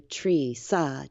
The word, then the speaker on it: Treesa: Teresa and so I just took the ter ESA and flipped the are in the e to Tresa Teresa Teresa